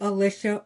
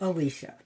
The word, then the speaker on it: Alicia: Um, but my own parents didn't even agree on how to say it. So, I will answer to Alicia or Alicia.